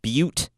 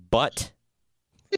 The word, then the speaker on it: Butte: learned that is not that the county is pronounced Butte and not but the county so that's good to know yeah well